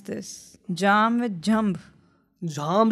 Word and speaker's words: Jhamb: Jam is my surname, the JHAMB. Yeah. Okay. Jam is like when two people sit and Have jam.